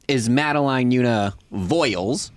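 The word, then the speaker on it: Voyles: So that child's name is Madeline Una Voiles. It's just Voiles.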